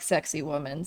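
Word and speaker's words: Sacsayhuamán: And then the walls of Sacsayhuaman. My pronunciations are always bleh, but I've been told that it sounds like sexy woman.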